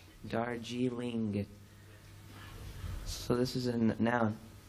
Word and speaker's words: Darjeeling: us again Neil and darjeely slow down the ending darjeely no Darjeeling Darjeeling so this is a